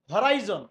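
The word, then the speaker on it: horizon: এখানে দেখো একটা মজার জিনিস, and they have the whole হরাইজন, এখানে হরিজন অনেকে বলে, এটা হচ্ছে হরাইজন, উচ্চারণ কি হবে? হরাইজন।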